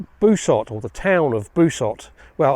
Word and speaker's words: Busot: or the town of busot well at least Busa is the way that most of us English pronounce it I think it should be basot basot or busot sits just below cabets